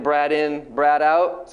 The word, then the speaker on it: Braden: And then generally on the next line, you write it phonetically how it sounds. So usually I write B-R-A-D space I-N-N. He's a hotel, right? Brad in.